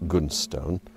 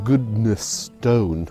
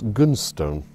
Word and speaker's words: Goodnestone: Now it's pronounced Goodnestone, but it's spelt like this. And I've always called it Goodnestone, but it's Goodnestone.